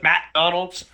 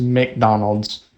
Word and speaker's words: McDonald's: My granddad says McDonald's, like he pronounces the A. He goes McDonald's. My thing is that I mean people have a different way of pronouncing like, you know, almost every word, but I just don't see how you can pronounce McDonald's McDonald's because there's no A between like the M and the C. It's just MC and then Donald's. So it's just McDonald's.